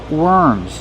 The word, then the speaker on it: worms: When we have W-O-R, we change the pronunciation. We do not say or, we pronounce it were, worms. Use the sound like burger.